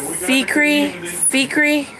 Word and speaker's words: Feecree: Yeah, Feecree. That's the pronunciation, I guess.